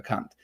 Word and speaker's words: Kant: Kant, Immanuel Kant, and yes, he's really pronounced like that for our American listeners, because